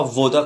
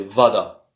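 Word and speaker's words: вода: Au fait, c'est pas voda qu'on dit, c'est vada. T'es rotiche voda. C'est quelque chose entre les deux, hein, comme je vous ai dit, puisque l'accent est sur le A.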